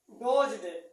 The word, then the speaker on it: doze: हाँ, आई डोज्ड, दी साइलेंट है, the question, मैं उन क्वेश्चन यानी